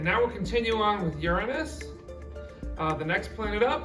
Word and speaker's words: Uranus: tilted on its side Uranus is made out of a interesting combination of gases including lots of methane this is why I always pronounce this planet as Uranus instead of Uranus because the entire room